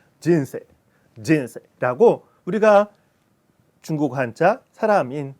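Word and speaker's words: 人生: 이는 진, 생은 새이니까 새 장음 진세.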